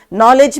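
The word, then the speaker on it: knowledge: नॉलेज में के silent होता है लेकिन वो लिखा जाता है।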